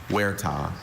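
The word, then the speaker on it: huerta: Any alternate pronunciations? I have just the one. Wera. Can you say it for us? Werah.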